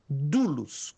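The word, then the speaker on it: δοῦλος: se pronuncia du du dulos como tivesse um U só que você escreve repito deixa eu escrever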